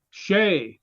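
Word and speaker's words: Hsieh: born in Illinois but the pronunciation given on there is that as if it were spelled s-h-a-y huh he retired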